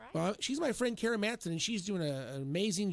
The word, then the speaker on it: Kara Matson: Well, she's my friend Kara Matson, and she's doing an amazing job here in the Wichita area.